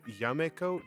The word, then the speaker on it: Jamaica: to be New Amsterdam, they changed Yameco to Jamaico because the Dutch didn't have an easy time pronouncing that J. And then that O sound kind of shifted from an O to more of an A. So it became more like Jamaica instead of Yameco.